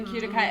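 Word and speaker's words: Qtica: We say Cutica.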